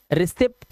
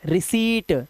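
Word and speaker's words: receipt: का वर्ड बना है रिसीप्ट रिसीप्ट नहीं आधा पा नहीं लगाना है रिसीट सी बोलो और ट लगा दो बस रिसीट यह गलत लिखा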